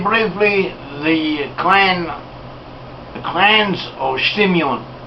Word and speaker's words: Simeon: the clan clans of simeon or shimyun as uh and sometimes pronounced so simeon was one